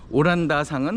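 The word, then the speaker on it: オランダ: 오란다상은 홀랜드를 일본식으로 발음을 해서 오란다상 그랬고요.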